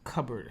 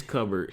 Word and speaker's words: cupboard: the the the coverboard cupboard how you say it it's coverboard it's covered but it looks like cup when when the Slate